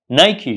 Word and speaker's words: Nike: made by this company do not say I'm here to buy a pair of Nike shoes it should say I'm here to buy a pair of Nike shoes and what about